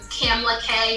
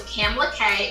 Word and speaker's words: Kamla-Kay: if you go to my Instagram it's um camla K just and I know my name is like how do you spell it so k a m l a k a y so camela K is on Instagram and then just the link